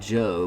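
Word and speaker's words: Jeaux: shout it out that our band is called Joe, but it's spelled this French way like this. J E A U X.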